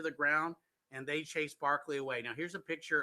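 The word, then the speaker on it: Berkeley: without land so Governor Barkley as I said that's how they pronounce it would not retaliate against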